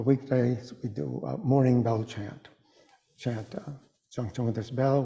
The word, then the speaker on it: Chan: It's the Japanese pronunciation of what was originally the Sanskrit word dhyana, D-H-Y-A-N-A, and which the Chinese pronounced as chana, and then shortened to chan.